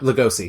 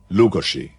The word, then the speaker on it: Lugosi: name Bella Lagasse yeah Lugosi lugosia it's not like gossy um his name was Bella lukoshi now that's the correct way of pronouncing it but that was probably